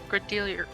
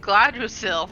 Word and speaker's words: Gradiriel: wanting to say Gladriel, but I'm like, no, that's an elf. I think it's Gradiriel. because at some point someone started pronouncing it like Gadriel or Gad.